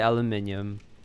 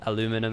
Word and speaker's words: aluminium: I say aluminium because that's the UK way of doing it, but aluminum is perfectly valid.